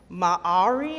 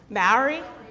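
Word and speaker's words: Māori: Maori? Oh, see, I've said it that way, and then people have told me differently. They said that you pronounce it M-A-H-A-W-R-E-E.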